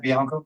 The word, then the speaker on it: Bianco: So just because a man like Bianca, I'm not saying his name right, I say it wrong. Chad Bianco. Bianco.